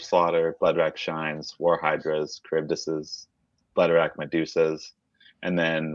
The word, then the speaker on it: Charybdis: Charybdis. Charybdis.